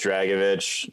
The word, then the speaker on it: Dragicevich: realized this is uh it's just uh it's just dragovich that's what i thought